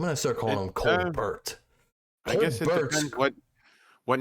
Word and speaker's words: Colbert: I'm going to start calling him Colbert. I guess it depends what nationality your name comes from, because different. What nationality do you don't pronounce T's? French.